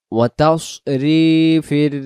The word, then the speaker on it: وتصريف: এখানে ওয়াতাস উচ্চারণ হবে, যেন ওয়াতাস এমন না হয়। যদি ওয়াতাস পড়ি তাহলে এই জায়গায় সিন অক্ষর উচ্চারণ হবে। তা সিন জবরের বেলায় হবে তাস, আর সদের বেলায় মুখে গোল হবে তাস।